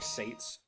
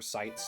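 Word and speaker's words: Seitz: a few people um Patrick Sates or sites depending how you want to say his name uh he's pretty popular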